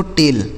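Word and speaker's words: tail: टी ए आई एल इसे पढ़ा जाता है दोस्तों टेल।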